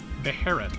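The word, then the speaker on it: Beherit: How do you pronounce that? Beharit.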